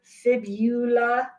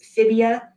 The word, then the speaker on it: fibula: Look at the spelling on this word, fibula and tibia. Please don't pronounce this fibia. It is fibula and tibia.